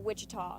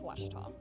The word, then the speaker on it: Ouachita: cheetah oh wichita oh back in texas everybody pronounces it wichita but really it's ouachita washington washington how would